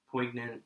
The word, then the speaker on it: poignant: a very Point poignant is that how you pronounce the word yeah poignant um anti-war film and just showing how kind